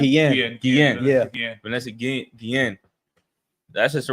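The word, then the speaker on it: Vanessa Guillén: Yeah, Vanessa Guen, that sister right there following the military, too.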